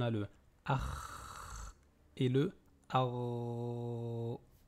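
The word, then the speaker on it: ر: Donc, on a le akh et le ar. Ce qui différencie ces deux lettres-là, c'est le passage de l'air au niveau de la gorge.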